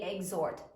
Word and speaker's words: exhort: We have to underline the twice because it is silent. Beautiful. We do not hear the H when we say exhort, right?